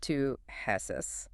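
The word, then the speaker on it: ptosis: It is pronounced to hess spelled with a silent ps i s.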